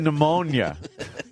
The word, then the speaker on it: pneumonia: Well, p I can't even say how you say it. Pneumonia. Pneumonia. It's stupid.